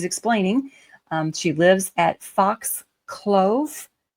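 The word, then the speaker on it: Fox Clough: We we see her again and she's explaining um she lives at Fox Clove. It's C L O U G H. And you know, you can pronounce the O U G word many, many different ways.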